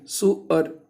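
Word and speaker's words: sewer: अगर इसे सीवर पढ़ेंगे तो नाला हो जाएगा, लेकिन इसका अगर प्रोनाउंसिएशन अगर हम सुअर कर दें, सुअर, तो इसको हम पढ़ देंगे दर्जी, है ना, कपड़े सिलने वाला।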